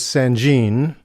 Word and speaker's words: Sangean: by sanjin now uh some people not sure how to pronounce this name sanjian sangen i won't make fun of the way you pronounce it if you don't make fun of the way i pronounce it i did see a company video that said it was sanjin a company based in taiwan so i'm going to say sanjin okay of course the